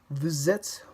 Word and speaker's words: vous êtes: In this sentence, the S from vous links to the beginning of it. Vous êtes.